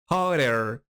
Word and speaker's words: hotter: Incluso puede pronunciarse hotter, porque la doble T recuerda que suena como una R, hotter. O también puedes pronunciar hotter, no hay ningún problema, no pasa nada.